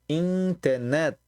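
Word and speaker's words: インターネット: E aí a gente vai ter a palavra estrangeira internet, em katakana, que se diz interneto.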